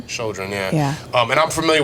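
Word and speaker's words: Chödrön: Chodron. Chodron, yeah.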